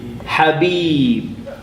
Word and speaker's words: Habib: Consonant plus short vowel ha. Ba plus a long vowel B. Habib. 2 syllables. Habib.